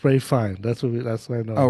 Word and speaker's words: Ralph Fiennes: Ralph. Phineas? No, it's the Voldemort. What's his name? Rain Yeah, but Fiennes. Ralph Phineas. Oh, is it Ralph Phineas? Yeah. Yeah, well, it's Ray Fine.